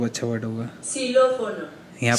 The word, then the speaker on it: Xilófono: Xilófono.